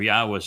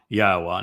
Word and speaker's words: Yahweh: I go through the entire Hebrew lexicon and demonstrate without any doubt that the proper pronunciation of God's name is Yahweh.